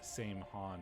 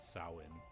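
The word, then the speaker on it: Samhain: like it is read same han or whatever but it's pronounced sin. Um because Irish is not English.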